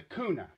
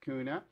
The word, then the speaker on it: Guna: k and now it's kuna with the g but it's all pronounced the same quite frankly i think